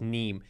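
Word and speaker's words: Nîmes: the equation for success the street is neem if i pronounce it correctly it's n-i-m-e-s but i think pronounced neem and this is one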